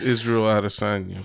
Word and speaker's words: Israel Adesanya: But it's Israel Adesanya, but yeah, that's how you say his name.